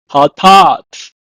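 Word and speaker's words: חטאת: It's pronounced in Hebrew as hatat.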